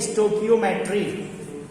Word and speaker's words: stoichiometry: Spelling ध्यान से लिखे, STOICHIOMETRY, पढ़ा भी नहीं जाएगा, इसको बोलते हैं स्टोकियोमेट्री।